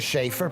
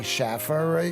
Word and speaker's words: Schaer: getting it right well my name is schaer people say Schaffer you just got to